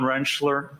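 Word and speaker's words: Rentschler: Could you please state your name for the record and spell it? Dr. Wrenchler.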